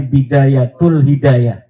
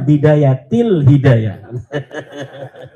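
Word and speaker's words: بداية الهداية: gitu kenapa kenapa Kapa ada huruf jar B katanya dibacanya bidayatul hidayah. Harusnya bidayatil hidayah.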